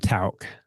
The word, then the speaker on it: Tauck: It's called Tauk. Yeah. How do you spell that?